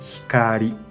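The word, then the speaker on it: 光: Kunyomi pronuncia hikari, hikari. Para decir la luz, no vamos a decir hikari de kunyomi.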